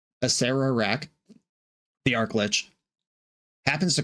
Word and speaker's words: Acererak: with Aserak, the arklitch, I'm going to be really careful about adding the extra syllable. I've been calling this guy Aserak for years, and my Patreon Discord was pretty aggro at me about mispronouncing it for an entire video a while back. Asera raak the ark glitch happens